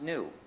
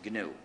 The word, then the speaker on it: GNU: much wordplay is that, according to the dictionary, it's pronounced new. However, when it's the name of this operating system, please ignore the dictionary and pronounce it GNU. If you talk about the new operating system, you will get people very confused.